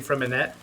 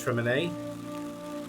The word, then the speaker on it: Freminet: the magical duo, and I think Fremine, I think that's how it's pronounced. I've been saying Freminette, but I'm pretty sure it's Fremine, is a really cute little character.